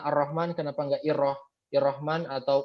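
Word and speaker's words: الرحمن: ilhamdi atau hukum Alhamdulillah kita bacanya ar-rahman bukan hirohman atau Irwan him seperti itu ya ya bukan hirohman atau urrahman tapi biasanya ar-rahman karena disitu ada tanda al-islam seperti itu itu 14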